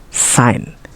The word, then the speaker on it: sign: we letter G now G can be silent too think about the word sign champagne design or foreign and a combination of